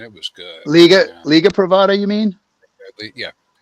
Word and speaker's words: Privada: This is from Pravada, and I think that's the right pronunciation. And it was good. Liga Yeah. Privada, you mean?